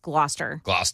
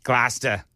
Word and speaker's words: Gloucester: I lived in Gloucester, which is pronounced Gloucester. Gloucester.